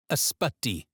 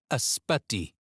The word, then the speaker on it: Ysbyty: Ysbyty. Ysbyty.